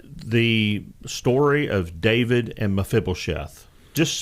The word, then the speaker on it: Mephibosheth: I think that was your South Dakota accent coming out, and it's Mephibosheth, and everybody pronounced it like that except for Matt.